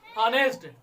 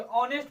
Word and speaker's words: honest: ध्यान से देखिए, जैसे HONEST है, वावेल वाले आया है, इसे हम क्या पढ़ेंगे? हॉनेस्ट। हॉनेस्ट क्या पढ़ेंगे? हॉनेस्ट नहीं पढ़ेंगे, ऑनेस्ट पढ़ेंगे। क्या पढ़ेंगे? ऑनेस्ट। क्या पढ़ेंगे? ऑनेस्ट पढ़ेंगे। ठीक है।